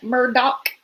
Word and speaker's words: Murdaugh: and again I'm Gonna Keep pronouncing it Murdock because that's how Alec just pronounced it I can't find it